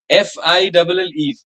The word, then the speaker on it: fille: the L sound will be silent, madam, and the I, which is usually pronounced short, E, will roll a little longer. So instead of saying fee, we'll be saying fee, fee, fee, Fille. fee, Fille. fee. Just roll a bit.